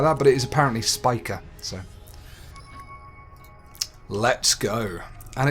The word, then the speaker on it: Spica: I always thought it would be pronounced Spicer or Spica or something like that, but it is apparently Spica.